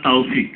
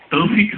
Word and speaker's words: তৌফিক: ও বলছে বারবার তাওফিক তাওফিক, তৌফিক হবে না কথাটা? তৌফিক হবে, তৌফিক তৌফিক হবে।